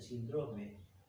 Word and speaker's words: síndrome: médicos, muchos médicos dicen síndrome. Síndrome tiene acento en la I, por eso digo síndrome.